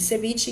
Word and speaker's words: ceviche: Ceviche em espanhol, ele pode ser escrito com V e ele pode ser escrito com B, com la V ou com la B. A pronúncia é ceviche, de qualquer maneira.